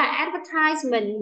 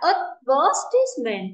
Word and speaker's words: advertisement: Mình có hai cách đọc nhá. Nó là advertisement mình sẽ là âm 3 là âm ai. Nhưng mà cũng có một cái đọc khác là advertisement thì nó sẽ là âm 2.